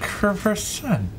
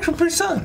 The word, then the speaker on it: Capri-Sun: You're like, Capri-Son. I said Capri-Son. Capri-Son. But isn't it a Capri-Son like the commercial? Says it. I said Capri-Sun.